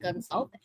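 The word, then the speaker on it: Gonçalves: The C is an S.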